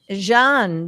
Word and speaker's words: Jean: Do you pronounce it Jean? I mean, it's the French spelling, which is Jean. Jean, yes, Jean.